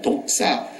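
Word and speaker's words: δόξα: 그 영광이라는 독사 발음은 좀 안 좋습니다. 우리가 뱀을 독사 그러지 않습니까? 근데 헬라 말의 영광이 독사입니다.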